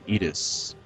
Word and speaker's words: Iris: So it does say her name is Iris, but it's actually not pronounced Iris. It's actually Edis.